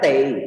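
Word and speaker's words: 得: Jadi bacanya tei ya. Ni tei chiyao. Ni tei chiyao. Nah, tei-nya di sini harus kejadian yang sudah pasti ya.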